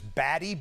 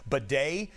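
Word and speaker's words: Badie: spelled, it looks, it looks like it says Baddy, B- A D I E, he pronounces it bedet, uh, falling down to the sidelines, evidently on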